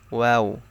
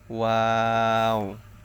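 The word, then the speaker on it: واو: তালুর সঙ্গে লাগে নুন ওয়াও ওয়াও হচ্ছে দুই ঠোঁট গোল করিয়া ওয়াও এর উচ্চারণ করতে হবে দুই ঠোঁট গোল করিয়া ওয়াও ওয়াও ওয়াও প্রথমেও গোল হবে এবং শেষেও গোল হবে দুই ঠোঁট ওয়াও হা হচ্ছে হলো শুরু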